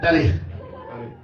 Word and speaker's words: tarea: Y es tarea porque lleva acento en la E.